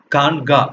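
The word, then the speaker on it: khanqah: Okay, so this is pronounced as Kanga.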